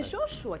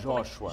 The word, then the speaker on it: Joshua: É Josué que fala? Joshua.